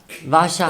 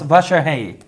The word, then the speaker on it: Vasarhelyi: And did I say it wrong? Vasarhelyi. It was close. Vasarhelyi.